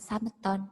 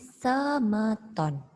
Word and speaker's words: semeton: Jangan diucapkan sameton, tapi semeton.